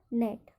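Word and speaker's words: gnat: यहाँ पर जी है तो यहाँ पर GN है तो जी का उच्चारण नहीं होगा। इसको क्या पढ़ेंगे? Sign, sign, design, design, resign और नेट।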